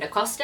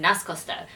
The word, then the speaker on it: Nascosta: I just recently realized I've been saying their name wrong the entire time I keep calling them CM n Costa and it's CM nascosta so my apologies this